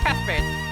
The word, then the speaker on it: Cuthbert: I still don't know how to pronounce his name. Cuthbert.